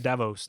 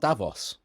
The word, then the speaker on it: Davos: I'm pronouncing it Davos now. That's how the Swiss do. Not Davos. No, Davos.